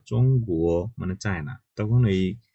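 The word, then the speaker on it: 中国: যেমন আমরা যদি বলি চায়নার কথা, যে চং গুয়ো মানে চায়না, তখন এই জি কিন্তু আছে ওখানে। হুম চং কুয়ো জির উচ্চারণ গয়ের মতো শোনা যাচ্ছে।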